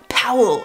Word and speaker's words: Paul: name but when you say it in German Powell it sounds like like the sound effect for